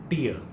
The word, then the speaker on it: tear: When it is a noun, it is pronounced tear, the tears that flow from our eyes, and tear is when you tear something, that paper also.